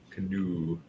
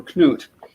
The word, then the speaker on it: Knut: Oh, and 1066 and all that called him Canoe for that reason. Canoe. Canoe, because he was Canute, but it's actually short for Knut, which can be spelled with a C or a K.